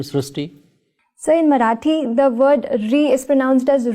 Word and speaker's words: Srushti: srti but this is a very unique name STI so in marati the word r is pronounced as Ru so that is why the pronunciation goes STI so uh hereby the spelling sir so you